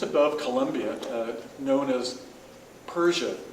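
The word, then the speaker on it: Perche: Colombia uh known as Persia is the way that's pronounced by the locals it's really spelled p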